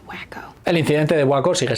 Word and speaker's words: Waco: It's pronounced wacko.